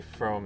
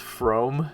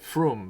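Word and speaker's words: Frome: follow it's not pronounced from it's just rome with an f in front of it oops um there wrong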